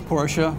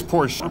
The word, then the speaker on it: Porsche: First of all, did I pronounce it right? Is it Porsche or Porsche? It's Porsche. It is Porsche. Porsche. Now, you can do people do it either way. Porsche is correct.